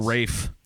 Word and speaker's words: Ralph: fiennes and vines yeah or Rafe oh yeah it's the first name that's pronounced differently than I thought yeah okay so I'm